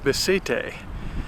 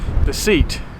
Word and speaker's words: Beceite: Now here in Spain they pronounce it Beceite. In the States we pronounce it like it's spelled, Beceite.